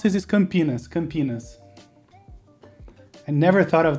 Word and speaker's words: Campinas: is called campinas right campinas you say it like this i put it in chat there uh but when we say it it seems like two words can penis what does it remind